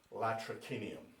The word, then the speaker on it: latrocinium: If you're using proper classical Latin, it would be latrocinium.